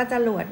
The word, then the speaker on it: จรวด: จำ ไว้ ด้วย นะ จรวด อ่าน ว่า จรวด ไม่ ใช่ อ่าน ว่า ตรวจ นะ จรวด คือ จรวด จริง